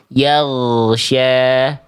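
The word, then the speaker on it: يغشى: Jangan sampai kita baca keluar nafasnya. Yak pasti jadi ko. Tahan nafasnya. Yang ngalir cukup yang yang lolos. Yang biar lolos itu suaranya aja yang ngalir. Yagsya. Yagsya.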